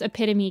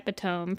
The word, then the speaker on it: epitome: So, and it also took me a very long time to pronounce epitome correctly. Definitely was one of those people saying an epiome for the longest amount of time.